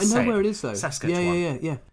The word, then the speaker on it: Saskatchewan: Saskatchewan. Yeah. It's like Sasquatch, isn't it?